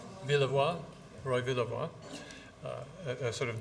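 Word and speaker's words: Villevoye: This is, of course, Roy, how do we pronounce his name? Villevoix, Roy Villevoix.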